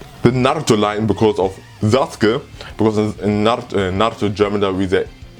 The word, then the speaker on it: Sasuke: because in Naruto German they say Sasuke. I don't know why, because probably they said it because of how the name is written, because they have a U, so they pronounce U, even though they should have later changed it to Sasuke.